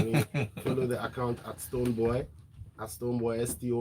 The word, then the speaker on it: Stonebwoy: From the beginning, if you say boy, I'm like, yeah, it still means boy. It's boy, Stonebwoy. So that you get a pronunciation right.